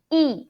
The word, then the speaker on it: 一: 帮我买 to buy, 买一杯 Be careful, I pronounce fourth tone E because 杯 is the first tone. I need to pronounce my E as fourth tone.